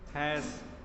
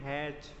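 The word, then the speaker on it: hash: हैश, जो भी हो बोलते हैं हैश, क्या बोलते हैं, हैश हैश। नहीं, कुछ लोग प्रोनाउंस करते हैं हैच, या ऐसा ही क्या तो बोलते हैं, हैश।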